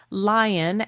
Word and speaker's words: Lyon: Lion. L Y O N. spelled like a city in France apparently but with a Y instead of an I pronounced like the animal.